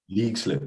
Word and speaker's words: Leixlip: Your career then, obviously you moved to Norwich from Leixlip, am I right in that saying that? League slip, yeah. Okay, there you go. Two pronunciation issues already.